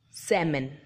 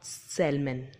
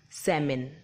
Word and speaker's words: salmon: actual pronunciation is Semin letter L is silent the meaning of this